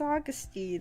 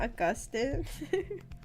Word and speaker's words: Augustine: It's Augustine. It's not Augustine.